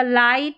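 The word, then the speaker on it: light: जी H silent रहेगा, ठीक है, यहाँ पर जी एच का उच्चारण नहीं होगा। जैसे यहाँ पर देखें जी एच के बाद में टी है, ठीक है, जी एच है और जी एच के बाद में टी भी नज़र आ रहा है, तो यहाँ पर जी एच का उच्चारण नहीं होगा। लाइट, नाइट, हाई और यहाँ पर है राइट, इस तरीके से पढ़ना है।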